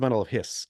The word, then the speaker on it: bundle of His: can't beat that but it's pronounced bundle of hiss I'm hearing he said hiss like a snake spelled hi s okay